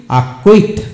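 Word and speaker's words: acquit: সিকে block S সি কিউ ইউ আই টি আকুইট আকুইট এখন আসুন বি C Keon bacon bacon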